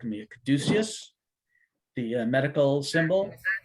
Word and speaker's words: caduceus: Caduceus, the medical symbol. Caduceus, yes, you are pronouncing it correctly.